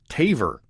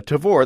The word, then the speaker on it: Tavor: very excited about it I also heard somebody on YouTube pronounce it Taver could it be could it be that I've been saying it wrong this whole time well how you however you pronounce it uh Tavor that's t AV V